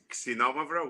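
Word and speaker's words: Xinomavro: The first one, we pronounce it, oh, nice sound. Nice sound. Xenomavra, which means sour black, and there are 2 other grapes.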